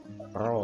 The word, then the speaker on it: rho: Oke, kalau jenis hambatan kan kita kasih simbol rho ya, ini bacanya rho.